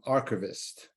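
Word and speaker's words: RKVST: join us John Gita from archivist that's how you pronounce that rkbst took me a lot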